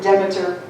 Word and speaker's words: Demeter: So Persephone and her mother, some people pronounce it Demeter, some people pronounce it Demeter. I'm used to saying Demeter, so I'll stick with that.